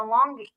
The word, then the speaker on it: Langi: The pyramids of Tonga, the Longi. How do you pronounce it? Longi? Oh, I didn't know they called it that. The Langi, yeah.